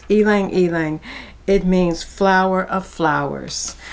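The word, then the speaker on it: ylang-ylang: you know that word Y L A NG I didn't know how to pronounce it I had to look it up it's elang elang it means flower of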